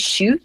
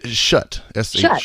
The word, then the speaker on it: Shutt: Is it shoot or shut? It's Shutt.